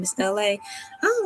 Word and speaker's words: Elay: My name is Elay. I don't like how this angle have me looking. My name is Elay, pronounced ooh, it's too dark. Girl. LA like the city.